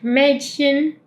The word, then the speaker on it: Mädchen: Em, el segundo sonido de la "ch" sería ese que ahora servimos, que es como en la palabra "ich", como en la palabra "Mädchen".